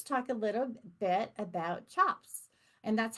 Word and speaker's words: tjap: c a p um but the C is actually um a CH sound um so um in